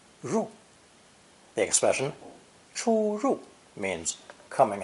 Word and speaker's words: 入: The origin of enter or entrance is a simple drawing of a cave opening, pronounced fourth tone, 入, 入.